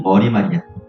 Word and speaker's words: 머리말: 써 유 머린말이라고 말 안 하고 머리말이라고 하니까 발음상 머릿말이라고 슛을 써야 돼. 근데 이게 표준 발음이 머리말이야. 음. 머린말이 아니라 머리말.